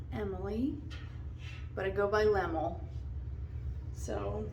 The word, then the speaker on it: LemoL: but i go by lemmel so not a lot of people know how to say it it's like lem like a lemon and then ooh like a pool or cool just lemmel it was a nickname